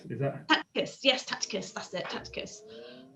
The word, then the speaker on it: Tacitus: Yeah, Tacticus, is that? Tacitus, yes, Tacitus, that's it, Tacitus.